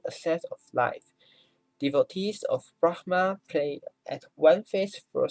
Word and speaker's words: Brahma: She's here to worship Praprom, the Thai version of the 4-faced Hindu god Brahma, the H 不发音。Brahma, the god of creation, is one of Hinduism's most important gods.